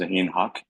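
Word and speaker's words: Zahin Huq: I think hi uh my name is zahen Hu it's spelled z a h i n huq uh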